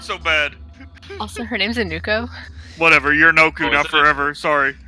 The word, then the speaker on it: Inuko: Also, her name's Inuko. Whatever, you're Noku Oh, now is it? forever, sorry. DM Yeah, keeps Oh, no, it's pronouncing it Inuko? wrong. So I-N... Oh, so it's I-N-U-K-U?